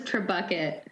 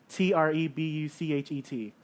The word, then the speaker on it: Trebuchet: Also, I thought it was Trebucket. Trebuchet is Trebuchet. It's how do you spell it?